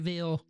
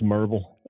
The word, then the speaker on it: Maryville: It's called Neighborly Really Maryville? No, it's Merville. Merville.